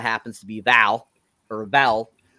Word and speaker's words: Vel: I think it's Vel, actually, because it's spelled V-E-L, but I swear they call her Val. So I think that's funny that they have an E in there and not an A.